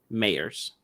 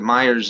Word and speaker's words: Myers: liz c abe or d mayors they actually pronounce it myers in the movie but it's liz what